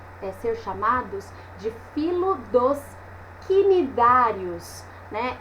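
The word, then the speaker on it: cnidários: Então, quando a gente vê aqui, ó, quinidários, né? Esse C mudo aí, é confuso na hora que uma pessoa pega essa palavra para ler e nunca tinha ouvido a pronúncia, tá?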